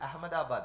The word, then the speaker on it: Ahmedabad: south of see we if we pronounce it the way it is written it is Ahmedabad but when you go